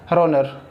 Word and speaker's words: kronor: ठीक है, बहुत सारे लोग को पता क्रोनर पढ़ते हैं। ठीक है, मैंने भी अभी क्रोनर बोला, लेकिन द करेक्ट प्रोनाउंसिएशन इज रोनर।